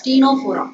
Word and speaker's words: Ctenophora: Here also C is silent, so you have to pronounce this as Ctenophora.